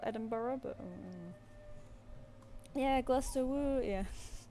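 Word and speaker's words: Gloucester: it's not it's not spelled Edinburgh, but yeah, Glaster Woo. Yeah, SuffK. Yeah, it's pronounced like that.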